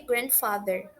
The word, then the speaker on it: grandfather: forte de uma região pronunciar sem aquela pausa na letra D, grandmother ou grandfather, eliminar completamente essa letra D.